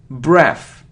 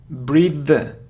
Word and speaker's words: breathe: look a complete so it isn't breath its breathe breathe breathe because it's a verb yeah because it's a verb so breathe there so if it's without it so it's breath its if it's with e so it's breathe look it isn't photography or